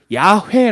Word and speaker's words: 야훼: 써봤자 여러분 여호와 하나님을 우리가 히브리어 단어 있는 그대로 읽으면 야훼 라고 읽어요 그런데 야외 라는 단어가